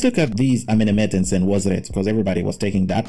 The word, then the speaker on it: Senwosret: The Nswt of this period are Amenemhet or Amenemat the First, Sinasret the First, or Senwosret the First, because that's the original way of pronouncing the word.